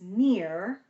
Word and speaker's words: near: not how do I it's only one syllable it's not me ER I'm just pronunciating it more so you hear the different sounds it's near but I'm saying it kind of exaggerated near near near um